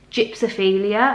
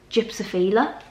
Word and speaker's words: gypsophila: people call it this, I don't even think it's gypsophilia, I think it's gypsophila.